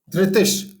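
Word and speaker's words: धृतिश्: धृतिश, जो आपने देखा कि जो विसर्ग है, राइट, उसके विसर्ग के पास श है। तो जैसे हमने पहले भी बताया इसके पहले वाले श्लोक में कि हमने जो विसर्ग है उसके बाद जो श आएगा, इसलिए हम उसको श धृतिश कर देंगे।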